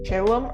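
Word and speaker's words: Caellum: I've learned that in Latin it's actually pronounced Chalum or something. So, let's just pretend that's not a thing. Like Caleb, but but with an M.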